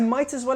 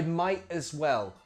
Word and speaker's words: might as well: I might as well have stayed at home. Pronunciation. Eat the tea. I might as well. Might as well. Say it with me. Might as well.